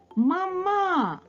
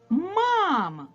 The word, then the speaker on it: мама: на другому звуковичку А давайте прочитаємо це слово мама ні ми так не говоримо а тепер поставимо наголос на перший звук а мама Ось так ми говоримо цей звук вимовляється з